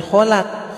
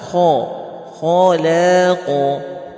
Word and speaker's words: خلق: Huruf asli qaf itu gimana? Khalaq. Gitu. Ya. Bismillah, kita lanjut lagi. Ya. Ala ya'lamu man khalaq. Khalaq. Jangan kholak, khalaq.